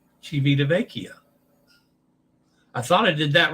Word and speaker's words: Civitavecchia: Mind your E pronunciation and time. Vecchia. Civitavecchia.